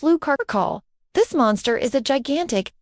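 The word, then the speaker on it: Lou Carcolh: From the folklore of the French Basque country comes a unique and bizarre creature, the Lu Carl, pronounced Lu Carall.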